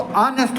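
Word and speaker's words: honest: क्योंकि इसका जो एच है वो साइलेंट है। इसको ऑनेस्ट बोलेंगे।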